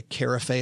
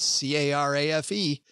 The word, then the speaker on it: carafe: waiter, I said, because I'd only read the word before, I said, I'd like a carafe of wine. And the guy, because it's spelled C-A-R-A-F-E. And the dude looks at me and goes, absolutely. I'll bring back a carafe of that wine. And you could tell he's trying hard not to laugh at me in front of my date.